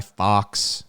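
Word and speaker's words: Fawkes: whole thing Fox guy Fox you know it's spelled f-a-w-k-e-s it's pronounced it's it's uh it's a homophone of the word Fox they're both they both sound the same when you speak them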